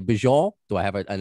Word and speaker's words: Beaujour: name do i say bijol do i have an accent to it bonjour okay yeah i i like it it's it's i mean in french it's bonjour but yeah bonjour i speak to people